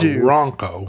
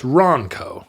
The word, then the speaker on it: Ronco: Ronco Ronco Ronco Ronco I think you have to hit the n a little bit harder it's not Ronco you do you don't want it to rhyme with uh Bronco no it's Ronco do you say Bronco